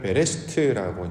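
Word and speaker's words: בראשית: 보통 표현을 하죠 창세기 우리가 이제 히브리어로는 창세기를 베레스트라고 발음을 하는데 창세기 1장 1절에 보면 태초에라는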